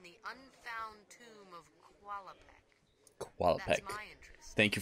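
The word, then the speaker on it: Qualopec: Qualapec. That's my interest. Thank you for pronouncing that.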